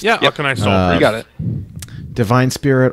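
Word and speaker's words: Auchenai Soulpriest: I never know how to pronounce this. Aknai Soul Priest. Yeah, Aknai Soul Priest.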